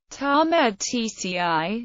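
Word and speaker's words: Tatmadaw: The Myanmar Army, pronounced Tamed TCI, is the largest branch of the armed forces of Myanmar and has the primary responsibility of conducting land-based military operations.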